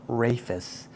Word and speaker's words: Raphis: talk about the pronunciation because I've heard it called rafus but I've always called it rapis just because it has the same beginning spelling as rafid aora which is a Raph sound instead of a Rafe sound